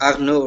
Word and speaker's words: Arnaud: say one more thing of course the D is silent am I right it's supposed to be pronounced Arno right yeah yeah so